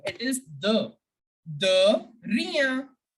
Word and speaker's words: de rien: You have to pronounce de like you pronounce the word the in English.